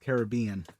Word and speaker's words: Caribbean: Retake that, it's pronounced Caribbean.